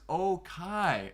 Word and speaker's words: Okai: Okay, says my name is pronounced Okai. Okai. I can get behind that. Okai. I understand. Thank you. It reads like the word for affirmative or yes in English.